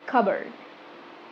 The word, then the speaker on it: cupboard: Words that have silent letter P.